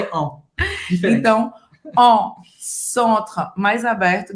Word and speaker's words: centre: Então, on, centre, mais aberto. De novo, você não vai pronunciar o E no final.